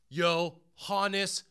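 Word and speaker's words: Yoenis: you can call them yo hannes cespedes all right chris berman that's how you say it yo hannes suspenders it's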